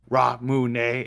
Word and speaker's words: Ramune: ramoon flavor i like ramune flavor you mean ramen ramen that's why i meant i can't pronounce anything especially japanese stuff i always forget it's like raw moon and not just if